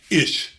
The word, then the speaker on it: Ish: Ish is the way it's pronounced, Ish.